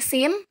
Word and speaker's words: س: Sedangkan sin itu seperti kita mengucapkan huruf S, sin biasa.